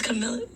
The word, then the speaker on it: Kamala: I thought it was Kamala.